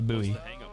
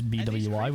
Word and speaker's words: buoy: they call it a buo that the most communed to be fair I just found out from Googling that the French pronunciation of the word which is where the word came from is BWI which is BU so